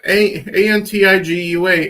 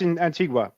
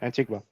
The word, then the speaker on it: Antigua: in Africa okay uh how the hell do you pronounce this one uh a a ntia are you not looking at the screen oh that's Antigua yeah Antigua Antigua bar baruda um